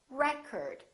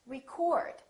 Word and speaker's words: record: noun it's pronounced as record the first syllable is stressed record this OH changes so it's not oh it's a record if it's a verb this word is pronounced record I'd like to record